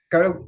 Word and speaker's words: Jung: el señor Carl Guth, y que mi es pronunciación. Jung.